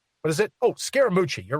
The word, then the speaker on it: Scaramucci: How's he pronounce his last name? It's not Vermicelli. What is it? Oh, Scaramucci.